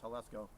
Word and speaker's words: Jalisco: So even as JAL, it's pronounced Jalisco, meaning sandy plains.